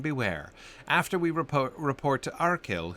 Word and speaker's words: Arcil: After we report to Arcil, whose name would certainly not have a soft C in it, we should return to Aedoras.